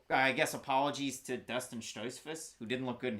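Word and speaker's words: Stoltzfus: fight against nicholas states i said dustin stroz in the video listen the o's they get me the german pronunciations they get me i made a mistake i was wrong so i guess apologies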